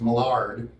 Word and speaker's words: Mallard: And the British pronunciation of that is Mallard.